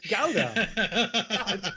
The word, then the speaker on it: Gouda: I said, hold on, the first time I said Gouda cheese, he went, what? It's Gouda. It's not supposed to rhyme with Buddha.